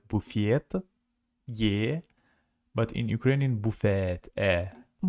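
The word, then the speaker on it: буфет: Buffet ah Buffet but in Russian it's pronounced like buffiet yeah but in Ukrainian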